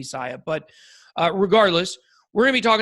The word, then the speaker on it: Sia: All right, so today we're going to be talking about Siacoin. Some people pronounce it Siacoin. I pronounce it Siacoin. I think it's supposed to be Sia.